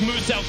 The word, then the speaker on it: Muselk: mackenzie borg and confamous now wants you to know his name is pronounced as mood self the australian-based content creator